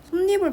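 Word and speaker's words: 솜이불: 예를 들면 솜니불 발음할 때 니은이 첨가돼서 솜니불로 발음을 해야 되거든요.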